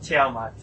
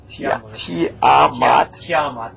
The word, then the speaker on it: Tiamat: Tiamat? No, Tiamat. Tiamat. Like T-Y-A-Mat. Tiamat. There you go. Alright. You have to put your mind in the head of a foreign person and say it like they would.